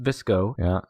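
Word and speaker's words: VSCO: google things number two the term bsco pronounced visco girl refers to a popular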